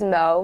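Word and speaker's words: moe: So the next slang word we have is mo, which is spelled M-O-E.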